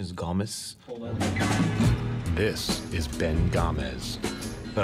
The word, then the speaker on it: Gomes: Well, the correct pronunciation is Gomes. This is Ben Gomes. But I say Gomes.